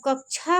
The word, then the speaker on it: कक्षा: जब जैसे कक्षा कहते हैं, अब ऐसे अगर छतरी वाला छ लिख देंगे तो उसको क्या पढ़ेंगे, कक्षा, ये गलत है। जब कक्षा पढ़िए तो उसको पढ़िए कक्षा।